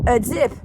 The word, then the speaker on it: Azip: Azip. And Azip is a name that rhymes with Phillip.